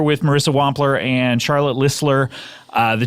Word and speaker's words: Listler: Bang we're here with Marissa Wampler and Charlotte ller uh the t is silent and uh Marissa my intern for many years uh is back her Charlotte ller is here and turnaround when we yes that's